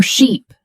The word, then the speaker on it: sheep: When you're learning English, stretch that e sound in words like beach, seat, or sheep.